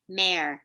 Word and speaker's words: Mare: Mayor, M-A, Mayor. Oh, Mayor. Okay. Like a horse mare?